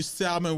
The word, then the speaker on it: salmon: together as a whole he says salmon it's salmon i say salmon i say salvage people say salmon it's salmon look the l is science silent yes it don't